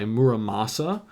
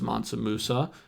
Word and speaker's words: Muramasa: death by muramasa uh which I finally pronounced correctly because it's always been stuck in my head as monam Musa and I just couldn't seem to get it right when I said it out loud um I was not